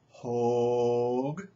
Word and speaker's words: Hogg: It's a long O. I'm sorry, Dave Hogg. Dave Hogg.